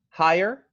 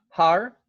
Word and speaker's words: higher: So in the case of higher, I hear not har, but I hear I, this sound, and I'm representing it with two vowels that are one vowel.